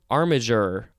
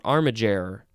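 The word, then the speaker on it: armiger: sense now we have armager or armager g e a-r-m-i-g-e-r this is a noun from 1577. one we have the synonym squire and two uh it says one entitled to bear heraldic arms armageral are armager roll armid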